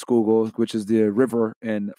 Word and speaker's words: Schuylkill: It's pronounced Schuylkill, which is the river in Philadelphia.